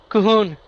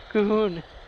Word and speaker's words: Colhoun: It's Colhoun, right? No. Cahoon. Cohoon, right? The L trips me up.